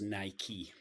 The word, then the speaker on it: Nike: of Victory which and her name was Nike like spiky um so uh that's that's how you pronounce Nike and I've worked for